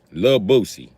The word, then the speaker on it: Boosie: Okay, it's Lil Boosie. Boosie. You gotta say it like that. Boosie, like you saying Habusa.